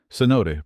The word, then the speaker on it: cenote: Cenote pronounced cenote.